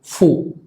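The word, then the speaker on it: fou: Luego tenemos OU, que suena U, similar al sonido de la U en español. Entonces, fu, que significa loco.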